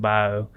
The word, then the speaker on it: Bayou: So spelled Bayou, we pronounce it bio.